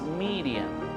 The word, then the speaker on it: Miriam: la cultura hebrea y bueno su nombre su pronunciación es miriam cosa que qué bueno estamos acostumbrados a decir